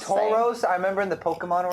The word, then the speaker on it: Tauros: It's pronounced Tauros. I remember in the Pokemon rap, it's pronounced Tauros.